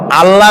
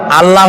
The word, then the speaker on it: আল্লাহ: আল্লাহ নয়, কিন্তু আল্লাহ হচ্ছে অশুদ্ধ, শুদ্ধ হচ্ছে আল্লাহ। বলার সময় মুখটা গোল হয়ে যাবে।